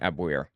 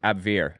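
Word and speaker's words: Abwehr: part of the abir I don't know how it's pronounced I've been calling it abir AB we HR it was the German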